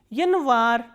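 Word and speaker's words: январь: Yanvar, stress is on A, that is why this Ya is reduced to E. Yanvar, January.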